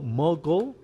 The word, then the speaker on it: mogul: This is it sounds this is mogul, and this is mogul. It's Mogul. we have to Okay. yeah. Thank you for pronouncing it correctly because I was like, how will I explain the difference?